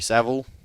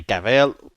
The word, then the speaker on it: Cavill: Henry Cavill as well, or Henry Saville. Henry Cavill. People pronounce it different around the world. Depends. Spanish people pronounce it different as well.